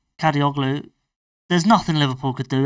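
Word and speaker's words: Kadıoğlu: It's a good pronunciation. Kadioglu.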